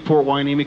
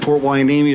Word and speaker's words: Hueneme: And Port Hueneme is spelled Hueneme. Totally different than what you would think it is.